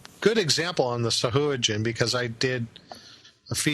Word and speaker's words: Sahuagin: It's pronounced Sahuagin. There's two ways. Sahuagin is also right. Yeah. Didn't Jeff Grubb say it was Sahoygan?